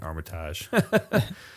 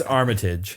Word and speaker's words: Armitage: I keep saying Armitage. You can tell I'm the fucking new guy in the band. It's Armitage is how you say that, by the way.